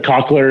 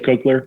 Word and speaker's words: cochlear: know i had a you said cochlear instead of cochlear yeah and like it